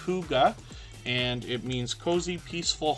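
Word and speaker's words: hygge: and hopefully catch it the next time around Huga Homestead is in the house as well h y g g e is pronounced Huga and it means cozy peaceful home in Danish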